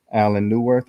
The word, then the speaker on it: Allan Neuwirth: very special guest a writer producer director designer Alan newworth I hope I uh pronounced your name correctly you sure did absolutely